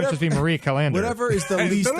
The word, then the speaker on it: Callender: Marie Callender's fettuccine Alfredo. I probably had 500 of those growing up. Callender's? First of all, it's Marie Callender. Okay, Marie Yeah, like Callender's. the word calendar.